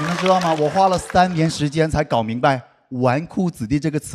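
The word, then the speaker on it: 纨绔子弟: It took me three years to figure out that the word "wanku zidi" is not pronounced as "zhiku zidi", did you know that?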